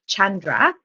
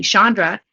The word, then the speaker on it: Chandra: um, really, it's technically, I believe, Indian and pronounced Chandra. Oh, And yeah, but my mom didn't like that, and she wanted it to be Chandra.